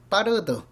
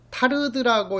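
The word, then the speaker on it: Tarde: 이렇게 연상하자고 그랬고, 그 다음에 일본에 있어서 따르드, 이것은 타르드라고 이렇게 발음하기도 하지만 따르드라고 이렇게 부르기도 하잖아요.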